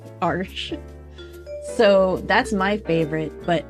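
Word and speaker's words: Arches: made for watercolor paper my favorite is arsh arsh I I learned how to pronounce that arsh so that's my favorite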